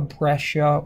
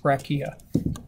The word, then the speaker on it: breccia: Since it's angular, this would be a breccia or a breccia, depending on how you want to pronounce it.